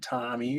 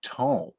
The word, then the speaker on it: tome: I feel like if you just apply the normal grammatical phonetic pronunciation onto that word in English, right? You would just come out with the word tome. Long O because of the E.